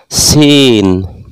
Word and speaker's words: সিন: সিন, এই সিন অক্ষর উচ্চারণের সময় সামনের যে নিচের দাঁত আছে এই নিচের দাঁতের আগা থেকে শেষ দিয়ে পড়তে হয়।